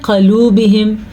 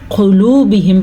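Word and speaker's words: قلوبهم: قلوبہم، اکثر لوگ اس کو پڑھتے ہیں قلوبہم، یعنی کہ قاف کے اوپر زبر پڑھ لیتے ہیں. اس کو ہم قلوبہم پڑھیں گے، قلوبہم، کیونکہ قاف پہ پیش ہے اور قاف موٹی پڑھی جائے گی ہمیشہ کی طرح.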